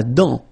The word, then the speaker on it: dent: La dent. Final T not pronounced.